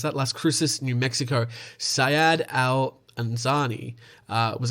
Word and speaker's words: Las Cruces: 2 days later, in Las Cruces, I believe that's how you pronounce that, Las Cruces, New Mexico, Syed Al-Anzani was a 59-year-old who died on January 27th.